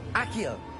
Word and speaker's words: Accio: Accio. Accio. Accio.